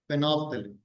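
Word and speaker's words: phenolphthalein: Okay, फिनोफ्थेलिन, L silent रहता है बोलते समय उसमें।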